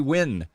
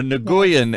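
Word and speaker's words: Nguyen: we've got chelsea here chelsea win or nagoyan as dr tren likes to say here he always mispronounces vietnamese names here i don't know why uh okay that was good not new yen when when yeah i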